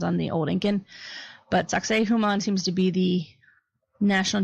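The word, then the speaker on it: Sacsayhuamán: It's Sacsayhuaman. There's a lot of different variations on that pronunciation. That is the one from National Geographic. There are other people that call it Sacsayhuaman, Sacsayhuaman.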